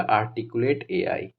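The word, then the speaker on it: Articul8 AI: आर्टिकुलर एआई ठीक है इसको प्रोनाउंस किया जाएगा आर्टिकुलेट एआई ठीक है न्यू स्पेस इंडिया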